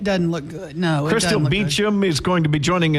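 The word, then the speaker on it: Beauchamp: get a different pronunciation it's b e a u c h a m m so it looks funny but you pronounce it beum I my parents say I pronounce it wrong and and the p is silent but I think I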